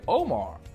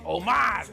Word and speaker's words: Omar: Dialect is different, you know, so the way it's pronounced is different. So if you're Hispanic, you won't say Omar. You'll say Omar. If you're Arab, you might say Omar.